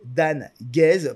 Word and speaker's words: Dan Guez: se prononcer dans bon ben voila je vais prononcer dan guez pour que les gens savent comment mon nom